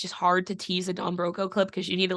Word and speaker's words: Don Broco: Don Broco? I feel like that's the only way to pronounce it.